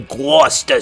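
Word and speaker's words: Gloucester: Another creature that's local to my home state of Massachusetts is the Guster Serpent. And yes, that is how it's pronounced.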